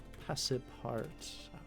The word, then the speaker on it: Passepartout: is in the viewport display, and it's called Passe Part Out, or hold on, I'm going to actually just go here and say, how do you pronounce Passepartout?